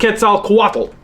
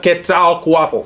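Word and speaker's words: Quetzalcoatl: Central America in fact ketal quat you'll notice same fanatics on that final syllable as what you saw for quak UT in Canada ketal quat down in Mexico what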